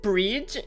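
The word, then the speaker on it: Bríd: a famous Irish saint it's pronounced with a long e similar to the English word breed but the F final D is like the D in brid Bri almost a j sound so brige Bri is that how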